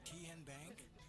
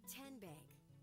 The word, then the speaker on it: TN Bank: How do you say the name? TN Bank? No. Kin Bank? So what is it? 10 Bank. 10, as in Tennessee.